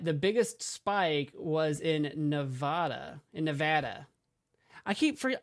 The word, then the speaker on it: Nevada: in the west where Nevada is they say Nevada so um that's the correct way to say